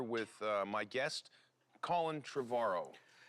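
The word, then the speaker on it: Trevorrow: I'm here with uh my guest Colin Travaro. You said it right. Finally. Travaro like tomorrow.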